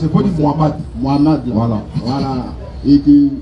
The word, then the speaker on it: Mohamed: Mohamed, je ne peux pas prononcer, il faut dire Mohamed.